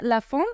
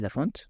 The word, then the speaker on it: Laphond: común allá pero sí no se pronuncia la última consonante Ajá Entonces sería latic